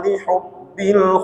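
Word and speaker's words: لِحُبِّ: Lihubbil itu pakai hak. Ketika kita membacanya kita menekan tenggorokan kita. Ha di tengah-tengah. Lihubbil ya. Terasa ketika kita membaca hurufnya tertekan di tengah-tengah tenggorokan ini.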